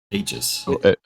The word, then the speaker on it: Aegis: Ages pretty with a soft G. It's got a soft G in the middle.